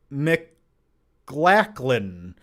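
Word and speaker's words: McLaughlin: Thomas Laughlin 83 said, "Hey, John, my surname is pronounced Mclacklin.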